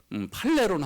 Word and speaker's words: 팔레론: 3만 개나 섬기고 있었지만 그 이상의 신들이 있었지만 그래서 이 여기 항구가 좀 발음이 어려운데요. 빨라이온 팔레론 항구입니다. 빨라이온 팔레론 항구인데 그 아테네에 사도 바울이 배 타고 왔잖아요.